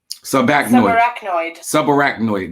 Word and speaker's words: subarachnoid: Subarachnoid.